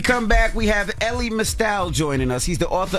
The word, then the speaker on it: Mystal: It's Mystal rhymes with Crystal.